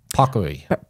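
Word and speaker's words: paccheri: Italian like okay so popcary yeah you're supposed to roll the R I can't do it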